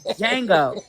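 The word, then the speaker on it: Django: First of all the D is silent.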